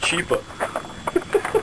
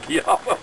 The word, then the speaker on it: Chiappa: He called it a Chiappa. He didn't pronounce it Chiappa.